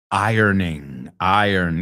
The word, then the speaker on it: iron: Iron. Yeah, it's a weird word to pronounce. No, irons, I earn.